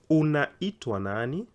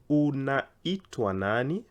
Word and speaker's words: Unaitwa nani: Unaitwa nani? Unaitwa nani? Remember, it's a question, so the intonation has to go high.